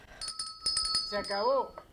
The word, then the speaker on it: Se acabó: So I put it in one word, and you told me no, it's 3 syllables. It's one word, but you got to pronounce it 3 different syllables.